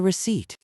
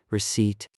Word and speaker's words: receipt: Ahmed, what is a receipt? It is the paper the cashier gives me. It shows how much I paid. Receipt. The P is silent.